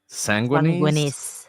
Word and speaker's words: sanguinis: of jus soli and what is called jus sanguinis.